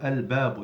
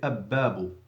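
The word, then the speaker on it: الباب: Likewise the ba as well, al-babu, you don't say ab-babu because the ba has no shadda, say al-babu.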